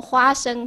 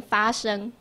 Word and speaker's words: 花生: 譬如说花生，他就要念发生，花生发生的念不对，可是他也知道嘛。